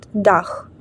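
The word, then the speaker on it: Dach: ціха читається як ч але в німецькій мові поєднання ці ха читається як х наприклад дах це означає наш дах наступна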